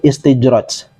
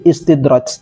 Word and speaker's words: istidraj: Yakni beliau mengatakan menyebut istijraj. Bukan istijraj yang tepat, tapi istidraj, ya, pakai dal. Ya, seperti tulisan berikut ini. Jadi bacanya istidraj, bukan istijraj, ya.